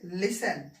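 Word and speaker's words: listen: ठीक है चलिए देखिए टी से पहले क्या होगा ठीक है ऐसे होना चाहिए तो फिर हम क्या करेंगे तो इसको क्या पढ़ाएंगे लिसन ठीक है ठीक है प्यार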